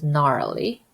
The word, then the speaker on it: gnarly: a so five gnarly remember GN rule if G is followed by letter n G is silent so this is gnarly when my kids say